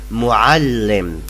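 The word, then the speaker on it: مُعَلِّم: Yeah, I know the ain is so hard to pronounce, but no matter if you say muallim with a, not with a, no matter, we will understand you.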